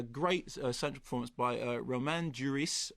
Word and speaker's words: Duris: And so what we have now is this really pretty terrific film with a great central performance by Romain Duris. I think you do pronounce the S.